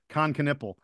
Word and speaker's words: Knueppel: You actually we're going to get to this in a little bit, but you actually asked him to pronounce his name, and yes, it is Kon Knueppel.